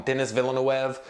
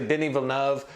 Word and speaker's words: Denis Villeneuve: come in here and call him Denis Villeneuve like I've done in the past. I said, you know what, man, that's disrespectful. I need to take my time and go learn the dude's name. And it is actually Denis Villeneuve.